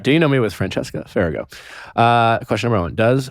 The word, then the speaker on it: Francesca Farago: those things where it's it's pronounced just the way it's spelled yeah some people say like fargo or some people even